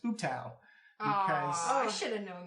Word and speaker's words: Ubtao: How we've been saying the god's name, Ubtao, is actually pronounced Ubtao.